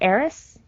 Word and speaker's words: Ares: It's a Dutch horror TV series, and it's called Ares, or Eris, but it's spelled like Ares, like the god of war.